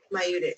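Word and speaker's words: maieutic: I looked it up, pronunciation. You ready? Mayudic.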